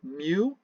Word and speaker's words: mu: the left it's the greek letter m it's pronounced mu and it is the letter that we use